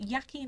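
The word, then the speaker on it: Joaquin: final one and I never know how to pronounce his name is it yakin or wacky in Phoenix um I'd say wacky yeah okay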